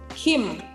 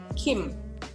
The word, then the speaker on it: Kim: Kim ini kalau kita kan Kim bacanya ya, tapi yang betul sebetulnya adalah Kim. Agak G. Kim.